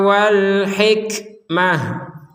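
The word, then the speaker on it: وَالْحِكْمَةَ: berhenti di sini alhikmata maka t-nya ini menjadi huruf ha terbaca sebagai huruf ha contoh wimuhumul kitaba Wal hikmah Wal hikmah nah terbaca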